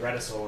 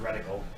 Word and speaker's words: reticle: I don't think there's any room for the C to be an S sound there.